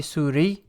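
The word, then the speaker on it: سوري: am syrian so again a male from syria would be suri and a female is suriya okay so this is the nationality anamin so the difference in pronunciation is really with this right surya is the country suri and suriya are the nationalities so then zainab says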